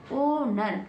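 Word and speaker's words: owner: एच के तुरंत बाद ओ है, तो एच से स्टार्ट नहीं करेंगे, क्या करेंगे, ओनर। क्या बन गया, ओनर, क्योंकि एच को नहीं पढ़ा जा रहा है, एच को हम साइलेंट रखेंगे। यदि एच के तुरंत बाद में ओ आता है तो एच को साइलेंट मतलब कि एच को नहीं पढ़ते हैं और केवल वहीं ओ से स्टार्ट करते हैं, ओनर।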